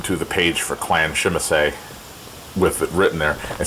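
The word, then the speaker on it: Tzimisce: a member of Clan Shimise. I refuse to pronounce it the way they do in this game. I'm sorry. It's Shimise to me.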